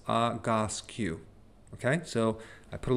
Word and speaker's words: Egoscue: So it's, and I wrote down the pronunciation because it's a little hard to pronounce, Agoscue, okay?